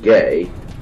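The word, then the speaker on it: γῆ: word gay GE and is pronounced gay and it meant ground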